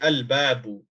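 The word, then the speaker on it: الْبَابُ: So you say al-babu, al-babu.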